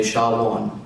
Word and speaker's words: Shawon: He says, just like you say shower on, say Shawon.